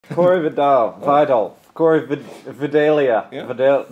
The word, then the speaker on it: Vidal: Corey Vidal. Vidal. Corey Vidalia. Yeah. Vidal, just like the onion? Yeah. Close. Like the shampoo. Vidal. Vidal. Sassoon. We've been saying it wrong our entire lives.